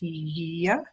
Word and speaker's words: Hygeia: In Greek, the name is pronounced Hygeia, but she is actually quite prominent in our own charts.